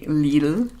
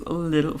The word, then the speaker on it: Lidl: Because we say Lidl in Germany. But I think it's Lidl for you guys. You English speaking guys.